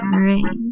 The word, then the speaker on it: Merengue: Meringue. Like the pie, like on a pie.